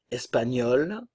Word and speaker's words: espagnol: danoise danois danoise l'Espagne n'oubliez pas le GN le son gne espagnol espagnol la prononciation est